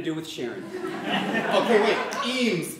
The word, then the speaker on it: Eames: Okay, wait, Eames, it sounds like Queens, which rhymes with jeans, which Sharon loves.